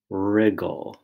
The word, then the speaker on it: wriggle: also spelled MB and the r sound in wrinkle is spelled w r second line ala alha bet alphabet second word whirl wind Whirlwind third word rig rigle and the fourth word